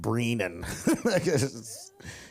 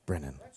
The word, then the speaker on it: Brennan: that was a lie because you pronounced it Brenan it's fine all right Brenan godamn it it's Brennan yeah you know you know